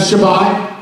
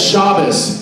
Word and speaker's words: Shabbat: a synagogue they have shabbat and by the way if someone goes yeah it's shabbos they're like what that's the same thing long time ago they didn't pronounce teas they had essence so you'll figure that